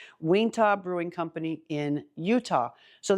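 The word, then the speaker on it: Uinta: is from a brewery I'm not sure how to pronounce this but it's UI n ta so I'm going to say WIA WIA Brewing Company in Utah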